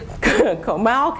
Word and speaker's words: Comal: pronounces it bizarre because he thinks that's funny comal county which is straight north if you're going up i 35 to austin you drive through kamal county while loop lake county is north and